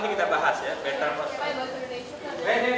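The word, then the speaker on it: René: Rene Descartes itu bacanya Rene.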